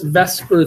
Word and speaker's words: VSEPR: a move that makes exactly no sense we pronounce that matter all right we call this Vesper theory what I want to talk about is